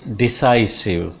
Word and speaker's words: decisive: 20th word is decisive. Decisive. Primary stress is on sa sound here. This is decisive. Decisive. Sa. This is sa here. Decisive. It will fall like that.